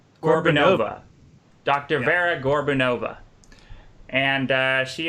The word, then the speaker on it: Gorbunova: How do you guys pronounce her last name? Gorbunova.